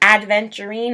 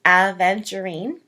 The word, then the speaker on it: aventurine: So it's not adventurine. I know a lot of people pronounce it that way, but it's aventurine.